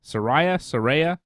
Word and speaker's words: Saraya: But the promo of the night was definitely Saraya and Saraya. That's how she pronounces it.